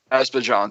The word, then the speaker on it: Azerbaijan: Russia, Kazakhstan, Azerbaijan, and I can't pronounce that right, so I apologize for Azerbaijan. that. Azerbaijan, thank you.